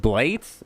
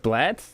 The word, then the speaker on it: Blaetz: we're really not sure how to pronounce his last name as I'm for years but like I have blades Blatz bleats I got it right the first time blade south hey